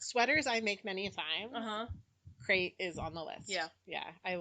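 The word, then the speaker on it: Krait: Crate is C-R-E-I-T? It's with a K. K-R-A-I-T. And K-R. it means something in her native language. It's just not like CRATE.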